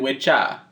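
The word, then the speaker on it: wicca: It stems from two Old English words, which were witche and witcha. We're almost 100% certain about that pronunciation. Witche, witcha. You know, like witcha.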